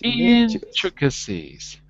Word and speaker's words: intricacies: Noticing intrigues like this way that intricacies with a stress on the first syllable. Intricacies. Intricacies. Not intricacies. Wait. A syonic syllable. Intricacies. Intricacies. Intricacies. A little less on the trick, more on the intricacies.